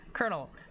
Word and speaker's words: colonel: Later colonel colonel later the spelling for colonel came to be used in order to reflect the Italian origin of the word. But by then the pronunciation with R was well established.